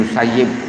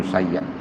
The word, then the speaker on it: Musayyib: Kalau Kiai Aziz dulu, saya ngaji Ihya ini kepada Kiai Aziz, Kiai Aziz Mansur, itu bacanya Sa'id bin Musayyib. Tapi kalau di Tebuireng itu kepada Bayai Samsuri Badawi, bacanya Sa'id bin Musayyab.